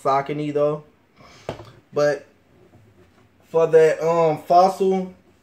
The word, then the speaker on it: Saucony: did it collab with soccer team or Saucony depending on how you want to say it I think I want to say it's pronounced sake Neto but for their own